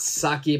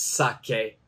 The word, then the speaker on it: sake: the pronunciation is wrong it's not saki but it's sake sake and sake actually